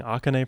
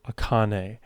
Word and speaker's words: Akane: right from now on I have been saying akan for so long it is aane wow she is so